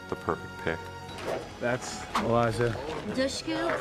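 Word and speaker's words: Dushku: things Elijah was the perfect pick that's Elijah dusu pronounced like push dush Eliza I love what she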